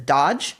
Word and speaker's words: DOGE: musk's creation of do which I from here on out will pronounce as Dodge because that seems the most appropriate way to call it uh and in your